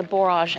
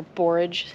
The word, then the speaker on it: borage: that I had to take the borage out or borage how it's pronounced I always call it borage but anyway it's doing